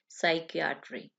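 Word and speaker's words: psychiatry: को कहा जाता है साइकियाट्री। यहाँ भी पी जो है साइलेंट होगा, ठीक है, लिखा जाएगा लेकिन पढ़ा नहीं जाएगा, साइकियाट्री।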